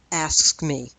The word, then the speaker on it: AFSCME: And that's Janus versus Asks Me. It's pronounced a couple different ways depending on how you want to manage that very awkward acronym.